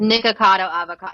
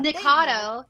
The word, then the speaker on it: Nikocado Avocado: it's nikado avoc it's nikocado avocado right is that how you say it yeah okay it's nikocado avocado it's because it has to rhyme with avocado yeah nikado is not rhyme with